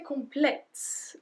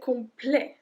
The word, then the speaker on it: complet: come play come play so we don't say complex we don't pronounce the T we say complain I've please about pronunciation